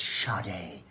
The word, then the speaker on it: Sade: It says Sade. Like, can you not read? I'm the dumb one? No. Yeah, no, it's because I was the dumb one. It's Sade. It's pronounced Sade.